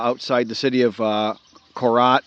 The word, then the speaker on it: Korat: the city of uh Korat we pronounce colat in the province of